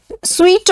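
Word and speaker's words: suite: Of soldiers होता है, स्वीट of rooms होता है। होटल्स में 2 रूम सेट को स्वीट कहा जाता है और इसका प्रोनाउंसिएशन स्वीट है, स्वीट, SWEET स्वीट होता है, वही वाला स्वीट है।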